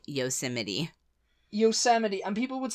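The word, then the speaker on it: Yosemite: whenever I read it I'd always pronounce it yo Mite yosmite yosmite it's yosmite the national park yes which is actually yosity yosity and people would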